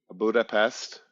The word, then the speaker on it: Budapest: and he went to Budapest that's how you say it in Hungarian PES Hungarian is one of